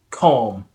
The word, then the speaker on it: calm: Calm, calm, calm, palm, palm.